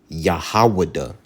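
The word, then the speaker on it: יהודה: All right, and in the Hebrew, it's Yahwadah.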